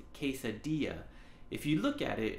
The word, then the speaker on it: quesadilla: and so it's pronounced quesadilla if you look at it it looks like it's pronounced quesadilla but those ELLs are silent quesadilla another word is